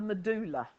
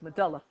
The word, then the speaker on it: medulla: It would be if it had got one L in it, wouldn't it? What? How do you pronounce the word that's spelt D-U-L-L? Dull. So it's medulla. Yeah? Medulla. Yeah? So medulla oblongata. When you get a double consonant, it's an English lesson, the double consonant shortens the vowel in front of it.